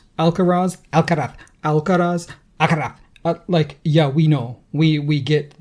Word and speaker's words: Alcaraz: And then the speed with which he went through, it's Alcaraz. Yeah, we know. We get that you know how to pronounce it correctly.